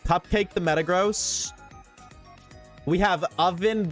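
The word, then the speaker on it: Ovvin: We have Oven the Swampert, but it's spelled O-V-V-I-N. So it just spelled completely wrong.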